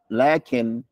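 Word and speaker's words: لٰكِنْ: So they write a little aleph on the top, but you don't write the aleph when you write the name of Allah. And there is an aleph that is pronounced. Understand that? So this is not lakin, it's lakin.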